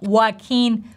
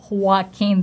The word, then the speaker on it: Joaquin: If we open the Wikipedia transcription of his name, we see H as the very first sound, but in reality people are dropping this H sound, and if you've been